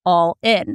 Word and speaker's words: Allin: And when you uh phonetically say it, it's allin. It's awesome.